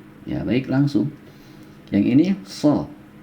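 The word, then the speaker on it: ص: Yang ini so, ini do. Ya. Sekali lagi, so, do. Ya. Lebih padat ya ketika pengucapan. So, ya, do.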